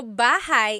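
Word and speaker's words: bahay: Shir said I always make a mistake with bah and so bahigh is house buhai is your life.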